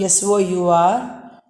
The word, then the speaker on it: sour: Next one, S-O-U-R. You pronounce it as sour. R is silent. You should not pronounce the word R there. It should be pronounced as sour.